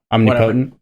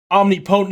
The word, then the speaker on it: omnipotent: that's all powerful oh omnipotent omniscient is all knowing so but it's it's not omnipotent it's omnipotent om omnipotent yeah English is a wild well